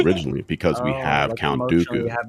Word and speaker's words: Dooku: Because if Count Dooku was intended, why the hell wasn't he in episode one? It's pronounced Count Daku coming out.